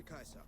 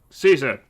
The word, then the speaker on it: Caesar: True to Kaiser. Yes, true to Kaiser. And all of that, I mean, true to Caesar. I hate you guys. So I'm supposed to say it like Caesar.